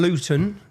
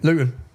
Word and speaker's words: Luton: And so, anyone, if you don't understand Luton, Luton, see I pronounced my T there. We don't pronounce our Ts. I've done that for you. How do you say it? Lugan.